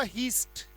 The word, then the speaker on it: heist: जैसे एक वर्ड आपको अक्सर मिलेगा, बहुत ज्यादा आपको न्यूज़पेपर में मिलेगा, और वो है HEIST, पढ़ा जाएगा बेटा, इसका उच्चारण होगा हीस्ट, हीस्ट।